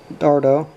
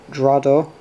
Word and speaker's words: Dardo: manage to pronounce correctly instead of saying dardo he pronounced it drado similarly in addressing my